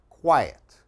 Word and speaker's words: quiet: pronunciation the first one the q u makes a qua like a kw sound qua another similar word is diet okay this is quiet diet quiet all right and the last